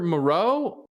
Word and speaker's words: Moreau: So it's Foster Moreau.